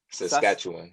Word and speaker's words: Saskatchewan: See, I didn't even want to pronounce the state name. You said it, but is it Saskatchewan? Yes, Saskatchewan.